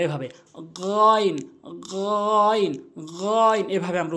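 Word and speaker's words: غين: হা এরপরে হচ্ছে গাইন হলকের শেষ থেকে আমরা উচ্চারণ করবো এভাবে গাইন গাইন গাইন এভাবে আমরা উচ্চারণ করব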